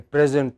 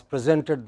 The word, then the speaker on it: present: the class gave a present to the teacher, but when the same word is used as verb, then it takes a stress on the final syllable. We said the class presented the teacher a painting.